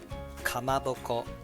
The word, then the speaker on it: kamaboko: for sitake mushroom shitake and fish cake kamaboko kamaboko then start put on japanese udon noodles let's pronounce ingredients chicken thai torino momonik then beans